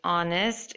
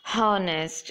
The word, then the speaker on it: honest: what and rhythm so when you say honest it you shouldn't say it like harnessed it's honest and be sure to include